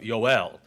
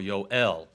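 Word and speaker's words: יוֹאֵל: the name Joel remember in the Hebrew there is no J sound it's a y sound so it would be more of yoel would be a closer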